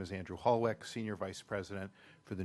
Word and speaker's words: Hallweck: Holwick, am I pronouncing that correctly?